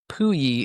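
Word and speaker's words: Pouilly: So it's Pui is the name of the little town there next to CERN. And it's spelled P O U I L L Y.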